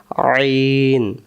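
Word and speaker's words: عين: মধ্য থেকে তাহলে আমরা আইন অক্ষর হলকের মধ্য থেকে একটু চেপে পড়তে হয় আইন আরেকবার আইন অক্ষর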